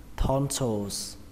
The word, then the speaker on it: tonsils: Amidan thì chúng ta dùng từ này, trọng âm của từ này rơi vào âm đầu tiên, đó là âm thon, thon. Âm thon trong từ thon thả, thon. Còn âm thứ hai các bạn đọc là so, so, và kết thúc bằng âm giờ các bạn nhé, âm giờ hoặc là âm sờ, tonsils, tonsils.